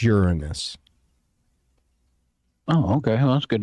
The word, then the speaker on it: Uranus: They're still trying to, which it's not Uranus. It's Uranus. Oh, okay. Well, that's good to know. Yeah, you do not pronounce it Uranus.